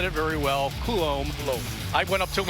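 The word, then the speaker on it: Coulombe: I think I said Coulomb. And he goes, well, that's close. But it is Coulomb, and we really need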